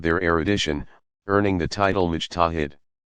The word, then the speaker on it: mujtahid: Some legal specialists rise to greater prominence because of their erudition, earning the title mujtahid. Pronounced mujtahid, one who exercises independent investigation of the sacred sources.